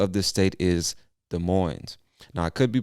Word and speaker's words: Des Moines: moines or des moines i'm sure the s is silent because i believe it comes from french and most of the time those s's at the end they're silent anyway moving on to